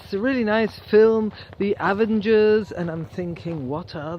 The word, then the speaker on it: Avengers: saying oh this is really nice film the avengers' and I'm thinking what are the avengers' and then I realized they were talking about the Avengers but I'm a teacher and I'm supposed to